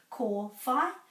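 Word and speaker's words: kōwhai: copy me if you need help with this ko phi fe fe ro okay let's go over here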